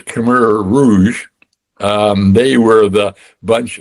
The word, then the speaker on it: Khmer Rouge: Um the very first one you mentioned, by the way, the pronunciation is Kur Rouge.